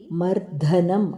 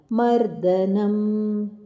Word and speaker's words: ಮರ್ದನಂ: ಉಚ್ಚಾರಣೆ ಕಂಸ ಚಾಣೂರ ಮರ್ದನಂ ಇಲ್ಲಿ ಮರ್ಧನಂ ಅಲ್ಲ ಮರ್ದನಂ ದೇವಕಿಪರ ಪರಮಾನಂದಂ ದೇವಕಿ ಕಿ